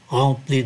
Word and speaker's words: remplis: Alors, mes yeux se sont remplis de larmes. Ký tự M này cũng phát âm là N, bởi vì đứng trước ký tự P, remplis de larmes, sans faire